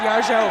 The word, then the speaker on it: Yajo: world needs to know it's yajo not yo that's my mission in